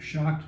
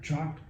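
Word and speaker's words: CHOC'D: in the band, CHOC''D, pronounced shocked, not chalked, and we're going to change the name again, because we've got enough new members that the initials don't work anymore.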